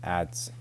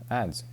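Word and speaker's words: adze: Ads. Oh, there you go. Ads.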